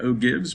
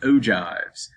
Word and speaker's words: ogives: ogives right here and i know it looks like oh gibbs but it's pronounced ogives if we're given data